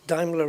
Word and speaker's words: Daimler: to get used to referring to Daimler as Daimler because Daimler is the correct way to pronounce it and I managed I